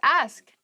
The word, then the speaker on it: ask: the next word is ask ask please pronounce this correctly it is not AE many native speakers make this pron iation mistake and it really bothers me ask ask me about